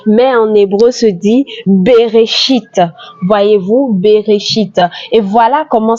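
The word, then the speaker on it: בראשית: Le premier mot de la Bible se dit en français au commencement, mais en hébreu se dit Bereshit. Voyez-vous, Bereshit. Et voilà comment ça s'écrit, Bereshit.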